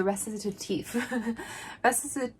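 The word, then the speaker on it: Recitatif: Let's go ahead and get YouTube to tell us how to pronounce it. Recitative. Okay, so Recitative.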